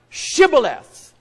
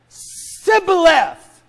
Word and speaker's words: Shibboleth: Say the word Shibboleth. And he said, Sibboleth. For he could not frame to pronounce it right.